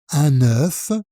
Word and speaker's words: un œuf: C'est la même prononciation que le chiffre 9, avec le son E. 1, 9.